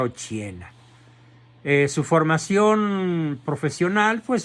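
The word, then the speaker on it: Occhiena: se llamaba Margarita ochena ochena con doc se pronuncia ochena eh su formación profesional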